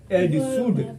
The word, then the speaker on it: should: Spelling बोलता है SHOULD शुड, सब गलती बोल देता है, साउंड शुड एल लगा देता है, लेकिन इनमें साइलेंट होता है।